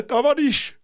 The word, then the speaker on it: товарищ: Yeah, Tavarish. I was right. That is how you say comrade.